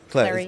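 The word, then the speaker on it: Clery: Clary.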